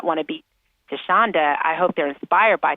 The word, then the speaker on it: Thasunda: Again, it's not spelled the way it's pronounced. That's a 70s baby. Thasunda. But also on LinkedIn, which is also Thasunda, you can find me.